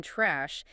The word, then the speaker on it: trash: It notes that the A sound in trash is much stronger and sharper than people expect. Beginners often want to soften it into trash using a soft European-style A. Right, they try to make it sound polite. Yes, but in American English, this is what we call the ash vowel. It is aggressive. Your mouth opens wide and the back of your tongue drops. Trash. Taste of the sound you